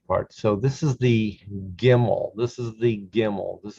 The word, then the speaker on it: gimel: so this is the gimmel this is the gimmel this is a hard g there is no soft g there is no ja in hebrew there's only a hard g a gimmel go and if you have